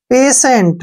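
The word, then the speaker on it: patient: है वृद्धि नेक्स्ट है पेशेंट पेशेंट में भी टी के बाद आईई आया है इसलिए हमने टी को श पढ़ना है इसलिए इसको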